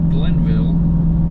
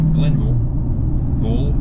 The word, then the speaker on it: Glenville: The town is called Glenville, or as some other West Virginians call it, Glenville. Glenville, for some reason.